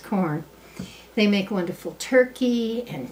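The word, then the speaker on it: Quorn: Now, one of my very favorite companies, Q-U-O-R-N, it looks like Q-O-R-N, but it's corn, pronounced corn.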